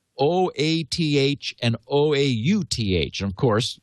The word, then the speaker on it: OATH: wait a minute o o a t h and o-a-u-t-h and of course yes oath obviously is how you pronounce o a t h um and actually it's